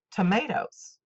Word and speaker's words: tomatoes: the old song goes tomatoes with the second syllable accented but we could not